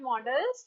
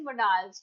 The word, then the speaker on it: modals: But actually this is not models, it is modals. Okay, in pronunciation we call this modals.